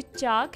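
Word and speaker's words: chalk: जो चाक है इसमें जो L है वो क्या है, साइलेंट है।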